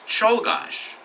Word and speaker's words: Czolgosz: had a name that was much harder to pronounce. Here's the name. Take a moment to read that. Any guesses? It's Czolgosz.